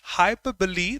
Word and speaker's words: hyperbole: not metaphor no simile no rest of that hyperbole that's the pronunciation I took just 11 seconds to answer